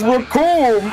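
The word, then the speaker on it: Recoome: The name is Raccoon and it rhymes with doom.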